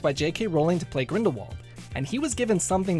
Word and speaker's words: Grindelwald: in both the first and second movie says Grindelwald but Jude Law dared to be different by pronouncing it as Grindelwald because he thought it was a way of